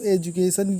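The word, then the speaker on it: education: देख सकते हैं, जैसे एजुकेशन लिखा है तो एजुकेशन ये जो है रूल फॉलो नहीं करता, तो ये अपवाद के रूप में, लेकिन फिर भी इसे हम जा पढ़ेंगे एजुकेशन।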